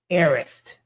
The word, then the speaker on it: Harris: For everybody who's interested, Harris Nail Spa, Arist. The H is silent, like Hermes.